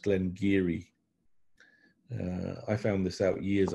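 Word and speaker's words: Glen Garioch: of Speyside Glen Glen Giri it looks like Glenn Garioch it's actually pronounced Glen Giri I found this out years after I got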